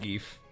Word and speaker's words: GIF: I kind of like gief I kind of wish that was like the the standard listen yeah I know that the creator of GIF said it's actually supposed to be pronounced Jiff but nah I'm gonna